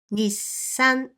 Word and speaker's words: にっさん: Ni, small tsu, sa, and n. Nissan. Again, you place the small tsu for the extra consonant, which is the consonant S in this case.